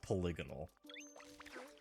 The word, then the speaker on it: polygonal: to be more polygonal I believe the pronunciation of that word is polygonal yes it is thank